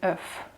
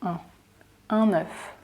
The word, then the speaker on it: œuf: The word itself is œuf, œuf. But we do the liaison with the word one, un œuf, un œuf. And the plural form of this word is des œufs, des œufs. So we don't pronounce the F anymore. So un œuf and des œufs, un œuf, des œufs. It's almost like saying des yeux, which means eyes, but